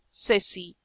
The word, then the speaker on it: ceci: C. S before E or I. S, set, ceci. C.